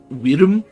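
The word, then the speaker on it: wyrm: And then also he said the word, like, W-Y-R-M, like worm, but he pronounced it Wirm. It was really weird sounding.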